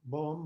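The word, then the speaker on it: 법: And then Bom Mun, the Bom is actually Bop, and it's an M because the next word begins with an M. And Bop means Dharma. It's the word for Dharma in Chinese, Bop.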